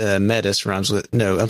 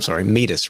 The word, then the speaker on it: Metis: And he says, Dave and Adam, hey, this is Metis, Metis, rhymes with, he says rhymes with fetus. Yay. Got it. Okay. This is meet us from Fun Fact Friday with Leela and David.